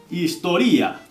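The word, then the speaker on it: ιστορία: estudiando historia diría spazo historía Este no es muy difícil la verdad historia Cómo se dice historia en griego historía vale spaso historía estudio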